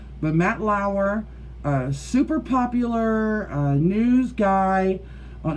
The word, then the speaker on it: Matt Lauer: Was Matt Lauer, that's how you say it, Matt Lauer, the news guy from NBC, I believe it